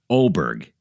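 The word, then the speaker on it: Åberg: I'm going with this guy, Oberg. It's spelled A-B-E-R-G.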